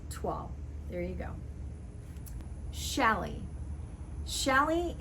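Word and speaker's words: toile: think it's very similar to voil but it's pronounced tual there you go shalley shelly is not pronounced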